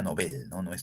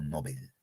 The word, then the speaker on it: Nobel: con mayúscula bien seguimos aunque se pronuncia noveles yo me he postulado a pronunciarlo nobel bien 14 en el texto